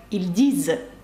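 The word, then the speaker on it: ils disent: так і читається як ільдіз нт наприкінці дієслів не читається також наприкінці слів у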